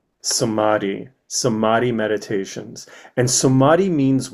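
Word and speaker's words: samadhi: Samadi. Samadi. How do you spell that? S A M A D H I. Sadi.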